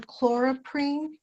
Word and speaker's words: chloroprene: I believe you were saying chloroprene. Is that correct? Yeah, that's correct. That's how you say it.